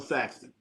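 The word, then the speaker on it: Sexton: Colin Saxton. Saxton. I'm sorry I said his name wrong.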